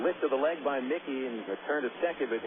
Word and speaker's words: Muecke: No silent letters there. Here's Haynes. Lefty verse lefty. Corners coming up in Casey Bunt. And a lift of the leg by Mickey and returned to second,